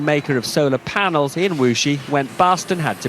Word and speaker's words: Wuxi: You know, it's spelled W-U-X-I. It looks like Wuxi to me, but it's pronounced as you heard Robert Peston say it properly, Wuxi.